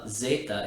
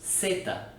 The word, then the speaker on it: zeta: The letter Z, called zeta in Spanish, tends to cause problems for English speakers because it's actually always pronounced just like the letter S. It's not zeta, it's zeta.